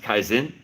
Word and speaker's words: kaizen: There's a word, I'm probably going to butcher it, but I believe it's pronounced kaizen or kaizen.